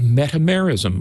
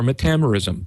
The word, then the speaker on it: metamerism: So metamerism or metamerism, either one.